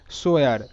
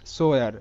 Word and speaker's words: swear: সো পরের যে শব্দটা আছে SWEAR, এটার উচ্চারণটা কিন্তু হয় সোয়ার সোয়ার।